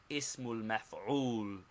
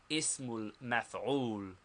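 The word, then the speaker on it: اسم المفعول: Second, the noun of object or passive participle, pronounced ismul maf'ul. Ismul maf'ul. The noun of object or passive participle, ismul maf'ul.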